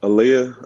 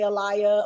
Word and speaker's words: Alia: for me uh uh Aaliyah Aaliyah like the singer Aaliyah okay okay I was probably gonna say Alaya or something like that